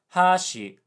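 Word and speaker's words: 箸: There are cases where different pitch patterns have different meanings, like hashi, high low, chopsticks, and hashi, low high, bridge.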